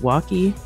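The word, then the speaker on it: Waukee: vibrant Music Hall and I believe it's pronounced wacky Iowa and so they've used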